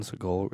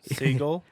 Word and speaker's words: Seagal: no Steven Seagal 100% is. Yeah, I know. Seagull. Seagal. It sounded like you said seagull. Yeah, I thought you were telling me Seagull, like you you're pronounce it only that way.